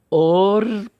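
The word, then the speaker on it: אָרְנָן: Portanto, este kametz embaixo do Aleph, a pronúncia é o ornan.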